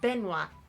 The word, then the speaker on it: Benoit: Or it's pronounced Benoit.